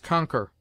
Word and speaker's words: conquer: never followed by you Q is sometimes sounded in words derived from the French like K as conquer liquor risque Checker r R has